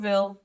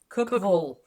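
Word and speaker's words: Cookeville: aired apparently we said we stopped and cooked cville Cookville for um for Waffle House correct that's not how you pronounce it no Cookville Cookville Cookville Cookville evidently in Tennessee every Ville is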